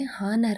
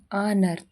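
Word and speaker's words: honour: ಓಎನ್ ಓ ಯು ಆರ್ ಇದನ್ನ ನಾವು ಕೆಲವೊಮ್ಮೆ ಹಾನರ್ ಅಂತ ಓದ್ತೀವಿ ಆದ್ರೆ ನಿಜವಾದಕ್ಕೆ ಅದನ್ನ ಪ್ರೊನೌನ್ಸಿಯೇಷನ್ ಆನರ್ ಇಲ್ಲಿ ಹೆಚ್ ಸೈಲೆಂಟ್ ಆಗಿರುತ್ತೆ ಆನರ್ ಅಂತಂದ್ರೆ ಸನ್ಮಾನ ಹಚ್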